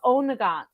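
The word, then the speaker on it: Oweynagat: And the cave is called, hold on, I will tell you because I even know how to pronounce it. It's called Onagat.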